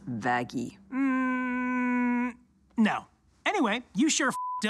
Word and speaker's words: Vaggie: It's why I named you after the best thing ever, Vaggie. Actually, it's pronounced Vaggy.